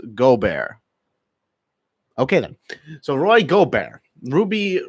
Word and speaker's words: Gobert: my day so with that being said Roy gore 'but however the hell you pronounce his name he's been diagnosed with the